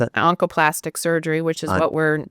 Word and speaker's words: oncoplastic: Which is that on the last how do you pronounce that? Oncoplastic surgery which is what we're known for.